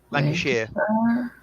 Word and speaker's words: Lancashire: Lancashire, Oh fuck. Really? which does have a Lancaster. Birmingham jail? What? That's Lancashire. Lancashire, Lancashire? sheer at the end. You guys don't pronounce your words right.